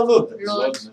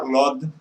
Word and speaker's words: Lod: Por exemplo, qual é o nome da cidade? Como se fala? Lud ou Lod? Lud. Todo mundo fala Lud. Mas, todavia, como está pontuado na literatura, Lod. Assim também muitas outras cidades. Falava Lod. Lod. Lod.